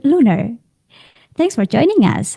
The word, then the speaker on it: LLUNR: Spelled So, L-L-U-N-R. Yes. yeah, Llunr.